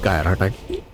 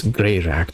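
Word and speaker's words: Greirat: free gyat the thief not gyat I think it's gray rat the thief gray rat that's what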